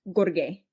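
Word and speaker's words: Gheorghe: name of it's it's it's spelled kind of like George but it's pronounced Gorge gor um Gorge Dinka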